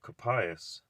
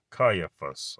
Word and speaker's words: Caiaphas: Capias, I did.